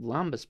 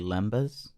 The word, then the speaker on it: lembas: They eat lambus bread, and they're like, I'm Lambus? good for 4 months. My guy, I think it's pronounced lambus bread. It's probably actually lembas.